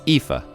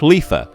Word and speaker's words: Ifa: the ifa tree and yes it's ifa not lifa that's a capital i not a small l in japanese it's called